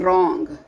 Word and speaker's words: wrong: Then wrong. Okay. So W is a silent letter.